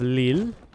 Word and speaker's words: Lille: Alright, we're going to sell the town of Lille. Yes, I actually did pronounce it correctly this time.